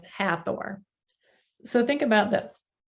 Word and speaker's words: Hathor: more powerful and so they don't pronounce the h and even when you